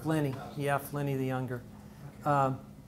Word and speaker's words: Pliny: I pronounced it. Yeah, correctly. Pliny.